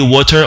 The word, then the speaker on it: water: Mais en anglais américain, on va dire water. On va prononcer le T ici en tant que R. Pourquoi? Il se retrouve entre deux voyelles.